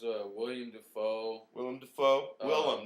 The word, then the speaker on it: Willem: william defoe willem dafoe willem not williams well is it really